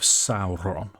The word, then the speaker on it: Sauron: Can I just say, I love the roll of the R on when you pronounce Sauron there, Dave. Correct pronunciation.